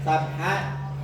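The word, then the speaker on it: سبحا: Nah, di kalimat sabhan ini Qur'annya ditanwin, ya, ditanwin. Berhubung bacanya diwakafkan atau berhenti, maka sabhan ini menjadi sabha. Begitu pula fasabiqati sabqa, fasabiqati sabqa.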